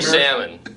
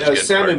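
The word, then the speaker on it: Salman: yeah there was no pan his name is salmon but it's s a l m a an but it's still pronounced salmon yeah yeah there's that all right funny do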